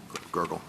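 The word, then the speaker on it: Gergel: I mean at trial Judge Gurgle is that the correct pronunciation of his name gurgle. Um it is Judge Gurgle. Yes.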